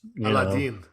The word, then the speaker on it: Aladdin: And then you've got Rumi's sons, Aladdin, who is Aladdin, by the way, that's how it's pronounced.